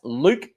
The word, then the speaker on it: Luke: That's Luke, all capital letters. It rhymes with puke.